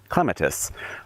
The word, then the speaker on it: clematis: This is clematis, or as the British say, clematis.